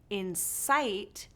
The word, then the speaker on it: incite: Another example of lexical stress: inCITE vs. INsight These words are phonetically the same but have different meanings. How can we tell the difference? By the way stress is placed within the two words.